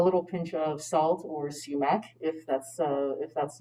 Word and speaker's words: sumac: and then they asked is it called samak not sure if i'm pronouncing that correctly oh uh sumac um i didn't use sumac in tonight's recipe uh sumac is spelled s-u-m-a-c uh it's also something